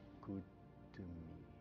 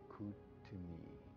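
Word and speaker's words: Kuthumi: Dice el maestro El Moria que su nombre se pronuncia con una T fuerte y la H suena como J en castellano y las O's son más largas tirando al sonido de la U.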